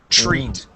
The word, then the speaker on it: treat: of the word okay you can pronounce that TR like a CHR so notice how I